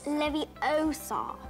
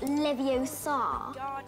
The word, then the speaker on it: Leviosa: Besides, you're saying it wrong. It's Leviosa, not Leviosa.